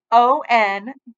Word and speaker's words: Henri: My name is Henri. He pronounced his name O-N-R-E-E.